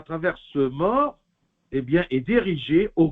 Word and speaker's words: mors: Je ne sais pas si ça se prononce en français, M-O-R-S. C'est mort ou morse. Je crois que c'est mort.